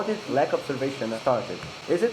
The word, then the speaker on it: Lac Observation: It's actually well it I I do pronounce it like that but it's actually a lake in Quebec so it's French.